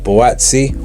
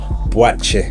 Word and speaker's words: Buatsi: of time with Joshua boti or as I should be uh you know mentioning him Joshua bue um as that is how his name is pronounced you know in Ghana outside of the UK um yeah a very